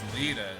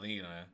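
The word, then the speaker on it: Leda: Oh, her name is Lita, not Lena. Lena.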